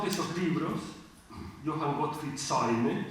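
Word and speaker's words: Seume: El autor de dos de esos libros, Johann Gottfried Säume, Säume se escribe S-E-U-M-E, hace un análisis despiadado de las estructuras feudales y absolutistas.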